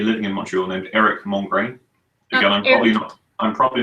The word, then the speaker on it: Mongrain: in Montreal named erik mongrain I'm probably not pronouncing that correctly Eric ER ik and the English way would be to say mom crane which is m 0 ng Rai n okay hey he's a